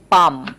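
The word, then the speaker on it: palm: এই যে এখানে এল লেটারটা কিন্তু সাইলেন্ট থাকে।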